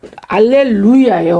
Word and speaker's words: 할렐루야: 이런 할렐루야 하고서 이게 우리가 원래는 할렐루 할렐루이야예요. 원래 할렐루이야. 근데 우리가 발음할 때는 할렐루야라고 이렇게 우리가 하나님께 영광을 돌릴 수가 있는 거예요.